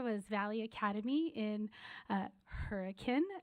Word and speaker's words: Hurricane: Valley Academy in uh Hurrican not hurricane uh we had uh